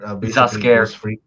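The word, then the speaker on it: Zs'Skayr: Is it Ziskyer? Zaskier. Zaskier, from Ghost Freak.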